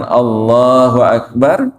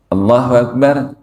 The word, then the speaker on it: Allahu Akbar: Ketika kita takbiratul ihram, dengan mengatakan Allahu Akbar, seringkali kita mengucapkannya aja masih salah, karena kita mungkin pakai lagu, pakai irama, terus Allahu Akbar.